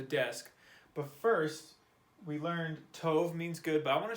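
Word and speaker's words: טוב: This word is pronounced tov. Tov. It's kind of like a T-O-V noise.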